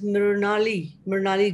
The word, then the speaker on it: Mrunalee: So your name is to be pronounced as Mrinali.